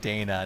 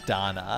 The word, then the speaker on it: Dana: and thank you for that is that I mispronounce the name of the game and it's lacrimosa of Dana not Donna here's the thing so here's the thing technically